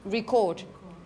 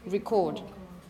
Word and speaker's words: record: going to record and you have a different stress pattern it stresses on the second syllable and also the first one is a little different record record okay as for example if